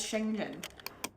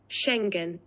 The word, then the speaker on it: Schengen: days so again so we have only ever known it as Shenzhen Schengen so sorry for the mispronunciation it will continue we